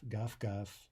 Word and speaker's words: гав-гав: Note the devoicing of the final v there, right? Pronounced more like f, гав-гав.